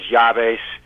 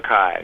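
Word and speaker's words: Keyes: People pronounce it Keys, Keys, Yaves down here, but it's Keys. Okay. Keep your eyes on Keys.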